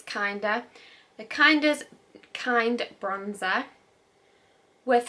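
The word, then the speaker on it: KNDR: Inside the treasure trove of beauty gems, you'll discover it's spelled K-N-D-R, I think it's Kinder, the Kinder's Kind Bronzer.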